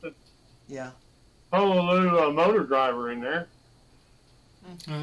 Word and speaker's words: Pololu: Is that how you pronounce it? Yeah. Pololu motor driver in there.